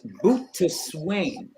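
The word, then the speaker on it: Boötes: It is pronounced boatswain. It's the same word as boatswain. So Shakespeare, as clever as he is, says, "Oh, boatswain, let's come on board." But what he's really saying is boatswain. Bootus is the plowman, the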